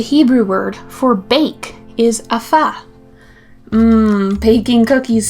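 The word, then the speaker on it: אפה: The Hebrew word for bake is afah. Baking cookies sounds really yummy now. Afah is spelled Aleph, Pei, Hey.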